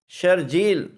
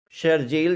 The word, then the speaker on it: شرجیل: ایک مشہور لفظ ہے شرجیل۔ شرجیل جیسے کراچی کے ایک مشہور سیاستدان ہے شرجیل میمن، اب اس لفظ کا تلفظ شرجیل نہیں ہے، یہ بھی قاری کی غلطی ہے، حالانکہ شرجیل تو